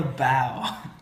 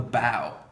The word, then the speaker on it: bow: robin any ideas close enough it's called the bow uh so this front part is called the bow what do you guys think the back is